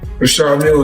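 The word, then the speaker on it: Richard Mille: How's the Richard Millie? Very humble. No, I like to call this Well, they people pronounce different ways. Rashard Mill is what my jeweler told me.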